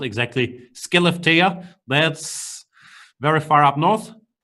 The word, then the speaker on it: Skellefteå: Just to understand the geography of Sweden, he's from, I believe it's pronounced exactly, Skellefteå.